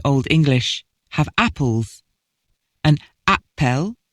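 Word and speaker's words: æppel: English have apples an Appel pronounced the same in Old English as in Modern English was an apple or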